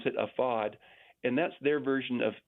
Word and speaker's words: AFAD: It's AFAD. They pronounce it AFAD, and that's their version of FEMA.